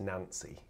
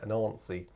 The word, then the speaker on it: Nancy: Sorry, the reason I'm laughing is because I was told that it's definitely not pronounced Nancy. I have to get used to saying it in the in the sort of the French Southern way, Nancy.